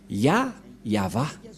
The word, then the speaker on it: Yahvah: Nous allons écrire en jaune ya, Yod et He, et va, V-A-H. Voilà le nom de Yahva prononcé par le grand-père Moshe, Yahva.